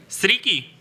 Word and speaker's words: Zrycki: Stricky. Ok. Stricky. Tengo problemas de pronunciación.